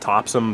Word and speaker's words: Topsham: ray claussen of the belfast uterelle topsham it's pronounced topson but if you type it into a gps